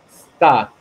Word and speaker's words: sta: se pronuncia, vas a ir aprendiendo que se pronuncia en italiano sta, o sea, que suene la S, sta, o sea, la E no, porque si fuera como español, está, ¿no?